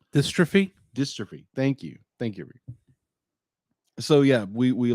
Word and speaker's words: dystrophy: He suffered from type 2 melatonin muscle dystopia, I believe it's pronounced. Dystrophy.